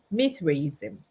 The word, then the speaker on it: Mithraism: Mithraism. Mithraism.